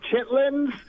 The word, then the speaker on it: chitterling: So So I'm looking at it and I go over and I'm like, "What in the heck is a chitterling?" Chitlins. Yeah. Yes. And he says, "Oh, Chitlins."